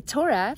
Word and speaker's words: Torah: compressed into the finite the Torah as we know rhymes with the word Aura it's not just a